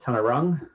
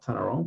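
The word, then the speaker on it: Taungurung: Tanarong's pronounced Tanarong, not Tanarong, but aside from that, well played, well done.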